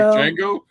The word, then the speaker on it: Django: What, you guys don't like Django? The D is silent.